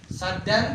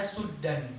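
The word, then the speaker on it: سدا: Ya, di sini ada dua cara bacaan. Saddan yaitu qiraah Hafs yang kita baca, ada suddan.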